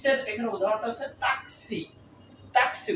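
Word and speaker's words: taxi: এখানে উদাহরণটা হচ্ছে তাক তাকসি উচ্চারণটা হবে ট্যাক্সি না হবে হলো তাকসি এরপরে সর্বশেষ যে বর্ণটি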